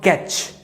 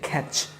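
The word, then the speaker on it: catch: তারপর ক্যাচ বলি আমরা, কিন্তু এটার উচ্চারণ হচ্ছে খ্যাচ, খ্যাচ মানে ধরা, খ্যাচ খ্যাচ খ্যাচ খ্যাচ।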